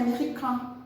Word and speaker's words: américain: Americain, porque o IN tem som de an em francês, é americain.